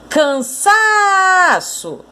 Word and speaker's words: cansaço: Cansaço! Você conseguiu perceber que o sa é a sílaba tônica, a sílaba mais forte dessa palavra? Cansaço.